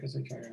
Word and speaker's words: Shire: Is that Schreier or Shire? How do you say that? Shire building.